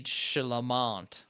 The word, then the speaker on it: Chalamet: Yeah, it's not like Illuminati celebrity, like Timothy Chalamet is how you pronounce his name correctly.